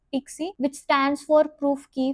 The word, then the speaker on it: PKCE: something called as PKC which is pronounced as Pixie which stands for proof key for code exchange.